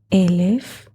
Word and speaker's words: Elef: 1,000 in Hebrew is Elef or Aleph. 1,000 in Hebrew is Elef, but the same letters which are expressing the number Elef in a different pronunciation are the word Aleph.